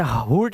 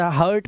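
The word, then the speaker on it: hurt: इसे हु्ट नहीं पढ़ते। इसे हर्ट पढ़ते हैं।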